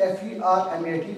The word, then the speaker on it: Fermat: And in Toulouse, there lived a gentleman whose name is Pierre Fermat. Anybody heard the name Fermat? It's actually F-E-R-M-A-T, but it's pronounced like Fermat, T silent.